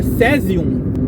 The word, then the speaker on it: caesium: por curiosidade do sésio vem do latim caesium que se pronuncia cesium que significa céu azul